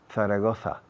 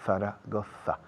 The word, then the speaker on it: Zaragoza: Don't say Zaragoza. People don't understand Zaragoza. They understand Zaragoza. Porque la ceceo, Zaragoza, Barcelona, suena TH en inglés.